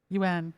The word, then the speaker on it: Yuan: is it if it's Yuan or Juan? I'm gonna just put Donna back on mute. But I'm gonna ask you to unmute. Your name is Yuan. It's UN. Yuan.